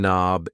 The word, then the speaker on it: knob: door knob a door knob yes the K in knob is silent and these things here